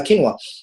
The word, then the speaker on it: quinoa: recently I've actually changed that for uh uh quinoa yeah I hope I pronounced it right you did I'm a quinoa